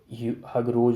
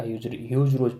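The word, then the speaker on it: Hugh Rose: और झांसी फिर से हगरोज जो था, हगरोज ने कैप्चर कर लिया। ह्यूज रोज पढ़ेंगे, सॉरी ह्यूज रोज पढ़ेंगे फ्रेंड्स।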